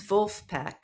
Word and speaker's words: Vulfpeck: trade press sure but I think it was vulf peek that Wulf peek did I say it right